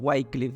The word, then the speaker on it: Wycliffe: John whitecliff o eh yo siempre le he dicho John whitcliff y y ahora me estaban corrigiendo es John whitecliff y y bien este